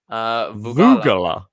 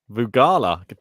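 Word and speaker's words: Vögele: So Vance just checked on the WTA website because all the pronunciations are on there apparently, and it's pronounced Voegele. Voegele.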